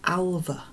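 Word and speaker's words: Alve: straight away and said, you pronounce it Alva. So the old-fashioned version of Alfie in this book is Alva, and I'll remember that now because Ross Welford told me himself how to pronounce it.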